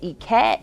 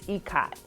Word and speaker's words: Ikat: I figured out during my research this week when I wanted to present this topic that I had been pronouncing it wrong. So I've been saying Ikat and it's Ikat.